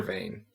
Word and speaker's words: Vane: easily and then I found a giant Weather Vein which is why it's called vein I because it's spelled v-a-n-e yeah but this is